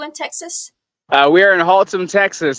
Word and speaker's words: Haltom: We are in Haltom, Texas. It's kind of like Gotham, but it's Haltom.